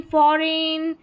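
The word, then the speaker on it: foreign: चलिए next number 7 पर है EIGN, इसको एन करके प्रोनाउंस करेंगे। जैसे रेन, फॉरेन, सॉवरेन, और यहाँ पर है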